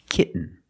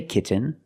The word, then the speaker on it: kitten: to the N example kitten you can say kitten but most people say kitten you do this stop T kit you don't release and then you fall to an N kit when you make